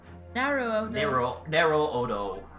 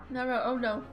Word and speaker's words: Naruhodo: Narrow Odo. Naruhodo.